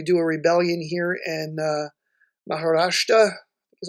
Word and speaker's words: Maharashtra: The units that rebel, say we do a rebellion here in Maharashtra, is how you say that.